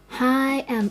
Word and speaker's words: A: My name is pronounced similarly as the first letter A in English, which a little bit of stressed.